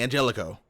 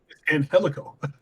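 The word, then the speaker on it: Angélico: they keep on saying Angelico I don't know why they keep on doing that his name is ANH helico an helico yeah please and they said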